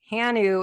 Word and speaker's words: Hanu: HANU is your business name. What does that mean? First of It's all, actually Hanu. So HANU. yeah, it's pronounced Hanu, which is Hawaiian for breath.